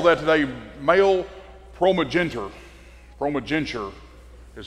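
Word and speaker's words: primogeniture: the birthright we call that today male ProMag ProMag genter is how that's pronounced and that is the right of the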